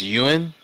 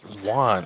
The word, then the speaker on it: Yuan: the UN to follow the dollar and it's pronounced Yuan I thought was Juan oh my God pronounced B you guys I